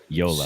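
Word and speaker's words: Joola: And I saw Eula or Jula came out with a statement too. Did they have an issue with some of their paddles being tested? Yeah. So how do you pronounce that? Yola.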